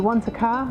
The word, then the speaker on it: Wanaka: and you're on Lake Wanaka Lake what's your hot tip for pronouncing that because I always forget to think that you know you want a car I want a car okay so I want